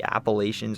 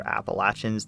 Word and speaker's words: Appalachians: The name comes from the Green Mountains, a range of the Appalachians or Appalachians, the pronunciation really depends on where you live, that cuts north to south, forming the backbone of the state.